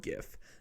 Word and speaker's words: gif: stevens that gif yeah hard g everyone lazy it's hard gif um it's a gift